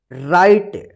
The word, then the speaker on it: write: राइट, WRITE, राइट, यहां पे W जो है ना साइलेंट रहता है, इसका उच्चारण नहीं होता है।